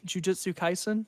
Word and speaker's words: Jujutsu Kaisen: Jujutsu Kaisen.